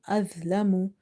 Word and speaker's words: أَظْلَمُ: So when you're reading the letter the, you have to suppress the buzzing sound by keeping the tip of your tongue all the time. It should be touching the inner edges of the top to front teeth.